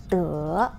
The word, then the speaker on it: 德: The Chinese pronunciation of this word is 德.